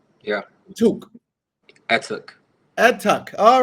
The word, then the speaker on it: Etuk: It is pronounced. Wait. I just said. Yeah. Etuk.